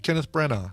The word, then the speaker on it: Kenneth Branagh: you put that that's you don't pronounce the uh the gh kenneth branagh right brana hey steven